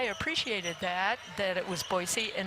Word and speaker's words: Boise: And that I appreciated that that it was Boisey and it's also not Presnell, it's Presnell.